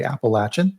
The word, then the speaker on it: Appalachian: And we focused on kind of the central, so Nashville East and the and kind of the Appalachian region, which the locals say Appalachin, of course, and uh kind of did a a whirlwind tour of that area.